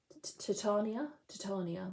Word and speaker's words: Titania: This is Titania. Titania. My husband told me off for pronouncing it incorrectly.